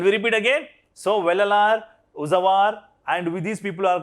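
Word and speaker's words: Uzhavar: The ordinary plugmen were known as, say, Uzawar. Uzawar. What's called? Uzwar. We can call as the pronunciation Uzawar, right?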